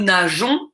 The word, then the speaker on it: nageons: nous nageons donc ici j'ai ajouté un e s est pour également la prononciation car je veux nous nageons et non pas nous ment